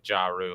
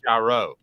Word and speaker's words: Jarreau: I first met you, but it's Jarreau. Yeah. Pronounce it one last time. Jarreau. Jarreau. All right. Calhoun, you practice. Jarreau. Basically, gyro, but a really, really, really, really thick Southern accent person said it.